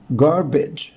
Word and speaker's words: garbage: القمامة اسمها garbage garbage garbage.